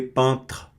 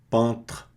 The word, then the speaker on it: peintre: Não pronuncie o E, peintre, peintre.